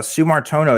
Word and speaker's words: Sue Martino: wrong from Indonesia uh Sue Martino is that how you say your name please yes that is exactly what my name is hell yes I got